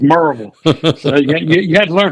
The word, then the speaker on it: Maryville: Everybody thinks it's Mville College because that's how it's spelled. But one of the first things they do for us outsiders, they teach us how to say it. And it's Merville. You know, it's not Maryville, but it's Marvel.